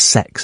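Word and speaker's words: CeX: It's pronounced sex, apparently.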